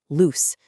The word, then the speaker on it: loose: But L O S E is an adjective that means not tight, and it's pronounced with a sharp S sound, loose.